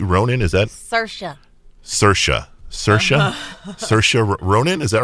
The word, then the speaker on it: Saoirse: and it stars and I normally get her name wrong she's got such a beautiful name Cersei Ronan is that Saoirse Saoirse Saoirse Ronan is that right okay beautiful name